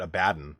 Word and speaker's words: Abaddon: the other day that Abaddon is not pronounced Abaddon I know you can also pronounce it a baton but can we all just